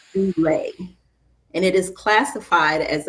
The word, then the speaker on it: doula: A doula, the term doula, should I say, is from the New Testament Holy Bible, from the Greek language, and it is pronounced doula, and it is classified as a female servant.